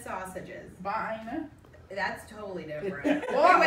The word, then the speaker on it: Vienna: I eat a Vienna sausage sandwich too.